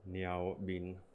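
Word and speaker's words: 貓面: examples of this okay meow is cat but if you use it in a compound word such as me our been literally cat face that's a term which is used to describe a pockmark face then you know it changes to the lower pitch seventh tone so now becomes meow being on the second tone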